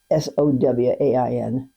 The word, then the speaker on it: Samhain: That's how it's pronounced in Gaelic, as Samhain, like Sowain.